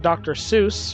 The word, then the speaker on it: Seuss: taking Solace and that Dr Seuss rhymes with Mother Goose but I'm going to